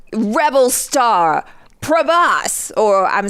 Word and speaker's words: Prabhas: that the fandom has, and like rebel star Prabhas, or I'm saying it wrong. Wait, no. Prabhas.